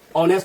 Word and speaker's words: honest: इसका ये जो एच है, इसका जो है, इसका साउंड जो है ना साइलेंट होता है, साइलेंट। तो साइलेंट रहने के कारण इसका मेन जो प्रोनाउंसिएशन है इसका ऑनेस्ट होता है।